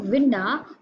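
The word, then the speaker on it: Winda: Solution: the poet uses poetic licence and alters the spellings of विंडो to Vinda to make it rhyme with Belinda.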